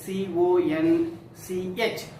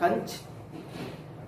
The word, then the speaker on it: conch: women in the auditorium women is the correct pronunciation of the word the next one is again a wonderful word the spelling is c-o-n-c-h this is not kanjar kanch this is conch now what is the conch